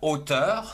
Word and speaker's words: hauteur: Un autre mot par exemple avec la lettre H A U qui se prononce O comme la hauteur.